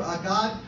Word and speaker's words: Agag: Exalted over Agag shall be his king, and upraised shall be his kingdom.